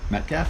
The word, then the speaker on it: Metcalf: Metcalf?